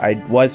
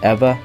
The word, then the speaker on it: Ewa: East Honolulu, Pearl City, Kaneohe, Kailua, Waipahu, Eva Gentry, I think it's pronounced Eva, not Iwa or whatever.